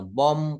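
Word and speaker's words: bomb: word বা শব্দের ভিতরে যদি এম এবং বি পাশাপাশি থাকে এম এবং বি পাশাপাশি থাকে তাহলে তার উচ্চারণটা আমরা ওই শেষের বি টা বলা যাবে না যেমন বম কম থাম্ব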